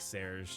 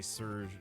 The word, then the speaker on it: Serge: I didn't even read it like Serge, just soft G Surg.